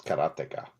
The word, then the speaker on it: Karateka: Karateka. Whoa. So it's like karateka. So it's like the word karate is what it is. And you just say ka on the end. Well, yeah, duh. So it's karateka.